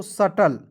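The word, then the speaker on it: subtle: पढ़ेंगे दोस्तों सबटल नहीं पढ़ेंगे इसे बी को साइलेंट करेंगे इसे पढ़ेंगे एस यू बी टी एल ई तो इसे पढ़ेंगे दोस्तों सटल क्या पढ़ेंगे सटल देखिए एस का स लिखेंगे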